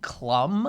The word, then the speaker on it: Klum: Well, the last time I watched, the women on it were Heidi Klum. Is that how it's pronounced?